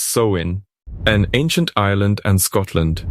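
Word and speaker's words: Samhain: 2,000 years to the Celtic Festival of samin pronounced soin an ancient isand and Scotland Sam Hoin marked the end of the Harvest and the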